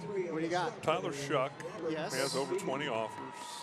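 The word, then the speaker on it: Shough: How on earth do you get Shuck out of S-H-O-U-G-H? How would you pronounce that? Like how? Right. Right. So he just changed it to Shuck?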